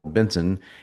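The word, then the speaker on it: BNSN: our own app called Benson. It's spelled BNS, but it's pronounced Benson like my last name.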